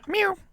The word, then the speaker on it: mu: Mu, mu, mu, it's mu, mu, like a cat. Mew.